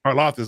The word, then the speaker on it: Karlaftis: Karlaftis. I'm sorry. I got Arnold. I was like, who the hell? I got him confused with Karlaftis.